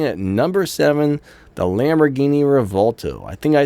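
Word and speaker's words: Revuelto: right so next up we have the Lamborghini rato coming in at number seven I think I pronounced that wrong as well because I can't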